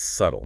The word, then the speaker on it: subtle: Well, the pattern is that B is often silent after an M or before a T. So, you drop it in doubt and definitely in the adjective subtle. It's subtle, not subtle.